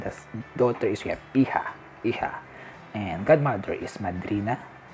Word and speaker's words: hija: So we have the son is hijo, and the daughter is we have hija.